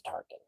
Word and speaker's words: Tarkin: Yeah, his name was Tarkin. T A R K I not like T.